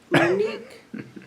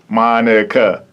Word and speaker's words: Monica: life yes it has what have you gotten monica monique mona and monica oh wow wow like broken down monica so let's hear you say it monica monika got it you got